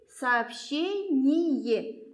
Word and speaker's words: сообщение: Хочу обратить ваше внимание на букву «ща». Вот. Когда у нас встречается в словах, вы произносите как две буквы. Как будто у вас здесь буковки две. Сообщение. Слышите? Сообщение. И здесь, когда у нас ие, мы произносим сообщение, а был как будто отдельное е.